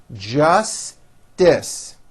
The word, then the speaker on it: justice: of elevators was irrational justice don't drop the middle t just dis they asked the judge